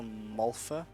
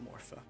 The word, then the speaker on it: Malfa: It's also Malfa that is the female, not Morpha. Malfa is Malfa.